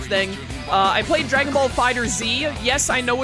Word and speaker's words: FighterZ: I played Dragon Ball FighterZ. Yes, I know it's pronounced Fighters, but the people who made that decision are idiots because that's the stupidest video game name of all time.